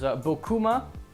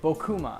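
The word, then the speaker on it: Bocuma: The second vignette is Bokuma. Yet another name that I don't know how to pronounce. Buma. Bo B O A. Bokuma. I think it's Bokuma.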